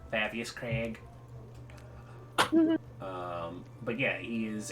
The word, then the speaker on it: Krieg: was close yeah cree creek will always be spelled with a k because it's supposed to be germanic um but they put an extra e instead of an i it always throws me off because it's craig fabius craig um but